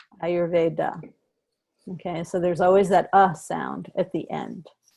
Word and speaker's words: Ayurveda: say Vat and Pit, rather than Vata, Pitta, Ayurveda.